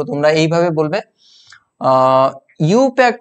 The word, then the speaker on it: IUPAC: জিনিসগুলো জেনে রাখতে হবে এটাকে আই ইউপিএ এরকম ভাবে বলা হয় না আই ইউপি এ সি এরকম বলা হয় না এটাকে এরকম বলা হয় ইউপ্যাক ইউ পাক ইউ পাক এইরকম ভাবে বলা হয় ইউ